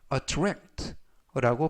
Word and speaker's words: attract: a 두 개가 나오는데요 두 번째 나오는 a 강세가 있어서 attract라고 발음하시면 좋겠고요 품사는 동사 뜻은 흥미나